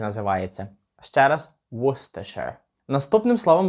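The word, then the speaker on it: Worcester: і тому він так і називається ще раз wooster наступним словом в нашому списку буде ось це слово і як би ви його вимовили так от я думаю ви ніколи не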